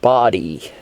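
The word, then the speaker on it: Bodie: north there's bodhi island b-o-d-i-e which is pronounced body there's another lighthouse there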